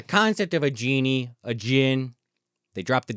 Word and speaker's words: Djinn: It's not Django. Right. It's exactly. Django and Djinn. And yep. Yeah. The D is silent.